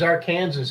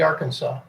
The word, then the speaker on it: Arkansas: that in this state really yep our kansas mispronouncing it as our kansas has got to be arkansas no huh now for a few for a